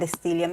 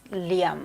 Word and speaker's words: Liam: are you from steven it's not estelium it's liam what do i always